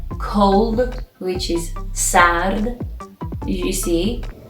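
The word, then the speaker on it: صاد: for example means night the seventeen letter is sad which is pronounced si for example like soap in english and the form at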